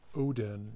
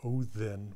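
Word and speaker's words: Óðinn: That's why we get through Danish modern English Odin rather than the Old Norse pronunciation Othen with the interdental fricative.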